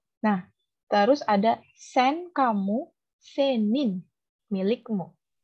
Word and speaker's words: senin: Nah, terus ada sen kamu, senin milikmu. Senim. Iya, senin. Pakai N ya. Senim. Senin. Oh, senin. Senin. Pakai N belakangnya.